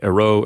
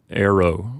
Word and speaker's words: ero: But keep in mind that in Latin, you're never supposed to put the accent on the final syllable. That's sort of a no-no. So instead of ero, you'll pronounce it arrow or something like that.